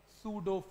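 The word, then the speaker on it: pseudo: इस छुपी हुई फोर्स को क्या बोलते हैं, सूडो force, सूडो force, सूडो का स्पेलिंग क्या है, हाँ सूडो फोर्स, पी छुपा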